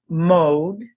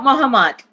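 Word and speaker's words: Mohd: met her mentor, Surya Mode. And I'll probably have to, how do you say that name, please? Surya Muhammad. Okay, so you would never know that by the spelling of M-O-H-D.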